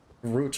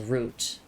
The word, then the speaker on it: route: It does have a route or route split, whatever pronunciation you want to go with. Technically, I should be saying it as root, but I'm so used to hearing route because like everyone online is American.